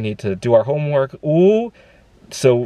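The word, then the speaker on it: 五: for five more minutes in chinese five is pronounced ooh and i would put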